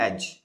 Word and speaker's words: edge: कुछ ऐसी चीज़ें जैसे एक वर्ड आता है AEDGE, एज, तो इसमें भी डी प्रोनाउंस नहीं करते हैं, ठीक है।